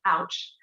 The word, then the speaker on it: Owch: previously from the outside owch the older women's co-housing project pronounced ouch looks like a normal